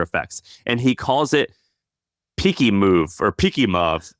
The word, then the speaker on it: Pikimov: And he calls it Peaky Move or Peaky Move. How do you think you pronounce that? I have no idea. Peaky Move. I don't know. Peaky Move. So it's Pikimov.